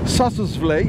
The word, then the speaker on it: Sossusvlei: And the road that is connecting from Sesriem to Sossusvlei, yeah, this is how they say it, is about 45 kilometers.